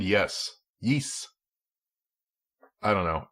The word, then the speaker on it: Ys: pronounce that other than wise I always just called it Y ass I believe that the word is from Norse so it sounds like like New Zealand yes yeess I don't know it's